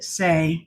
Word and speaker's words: Saie: That's how Barb said to pronounce it, Saie. So that's how I'm pronouncing it.